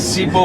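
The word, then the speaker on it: Sipho: That's why he's Sibo was. S-I-P-O. S-I-P-H. P-H-O. Sibo. It's H, but you don't pronounce Okay. Sibo. Not with B, with H.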